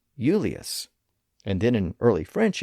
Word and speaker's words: Julius: In early episodes, I talked about how the name Julius, as in Julius Caesar, was originally spelled with an I and pronounced Eulius in Latin and then became Julius.